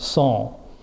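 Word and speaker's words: sans: French word si ans when in the United States we pronounce it sent it's actually pronounced song sawn teeth saw eyes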